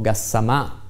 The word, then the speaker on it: Gassama: squadra rinforzata da mercoledì questo gassama mi piace chiamare con l'accento sulla la francese insomma ha fatto vedere buone